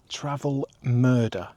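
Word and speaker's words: Travemünde: Travelmurder. That's how you pronounce it according to Google.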